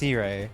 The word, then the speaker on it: Sirei: Where's Sarai? I thought, oh, it's Sirei. It's pronounced Sirei, not Sarai.